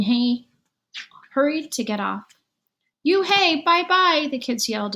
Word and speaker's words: Unhei: no no he corrected it's spelt u-n-h-e-i it's pronounced it's you hey the boy said like you hey what about hey you